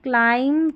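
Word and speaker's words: climb: एम बी में भी क्या है, ये बी साइलेंट, एम बी ऐसे आखिर में आएगा और बी साइलेंट है, पढ़ लिया ना। लैम, थम, क्लाइम, कॉम, बॉम, तो यहाँ पर बी साइलेंट है।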